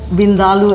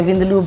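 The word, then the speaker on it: vindaloo: favorite dishes in our restaurant is uh for vindal as it's correctly pronounced because next time you go to an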